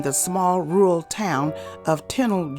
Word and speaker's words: Tennille: small rural town of Tennille Georgia sometime pronounced tonella tunnel was a typical